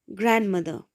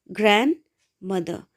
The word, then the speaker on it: grandmother: Though spelling is grandmother, we say grandmother, grandmother. D is deleted.